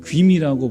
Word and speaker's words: 구미: 원래는 귀미라고 발음하는데 옛날에는 왜 쇠고기 했잖아요. 근데 이제는 쇠고기 안 하고 소고기 하죠. 이 마을이 귀미 마을입니다. 근데 이제 그 귀미 마을에서 이자 빼고 이제 구미라고 하는데, 그래서 구미중앙교회하고 두 교회 가서